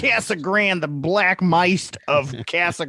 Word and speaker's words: Casa Grande: That's how it's pronounced. Casa Grande, the Black Mist of Casa Grande.